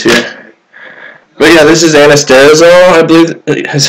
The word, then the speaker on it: anastrozole: Your other options are anastrozole, which comes in a research chemical.